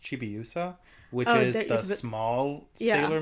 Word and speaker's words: Chibiusa: I think it's pronounced Chibiusa, which is the small Sailor Moon.